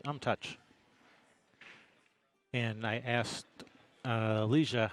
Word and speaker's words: Umtuch: I said, how do you say your last name? And he told me Umtuch.